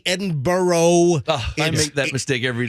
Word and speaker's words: Edinburgh: a storied history but it's it's Edinburgh at Edinburgh that's how you say it it's spelled e-d-i-n-b-u-r-g-h but it's Edinburgh so they just landed